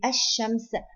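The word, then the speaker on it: الشمس: And let's see the Laam Sakinah in Ash-Shams and Al-Qamar. Here Ash-Shams, we do not pronounce the Lam, and Al-Qamar, we pronounce the Lam.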